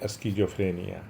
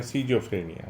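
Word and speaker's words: schizophrenia: फिर obsessive compulsive neurosis और फिर स्कीजोफ्रेनिया या सीजोफ्रेनिया दोनों ही उच्चारण परम जी बताते थे।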